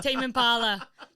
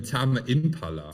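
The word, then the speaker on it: Tame Impala: um T Impala for the longest time instead of Tam Impala Tam Impala that's t no I think even T Impala t with silent E yeah so I had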